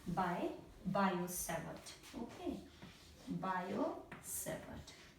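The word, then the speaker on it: Biot: let me say by bio okay bio seate this T is silent okay so it's written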